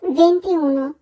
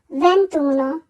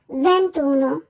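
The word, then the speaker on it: ventuno: করবো ভ্যান্তি ভেন্তুনো অনেকেই 21 কে উচ্চারণ করে ভেন্তিউনো আসলে উচ্চারণ হবে ভেন্তুনো আমরা ভেন্তিউনো বলবো না বলবো ভেন্তুনো ভেন্তি দুয়ে ভেন্তি ভেন্তিয়াত্র ভেন্তি ব্যান্তিসাই ব্যান্তিসাই ব্যান্তিতে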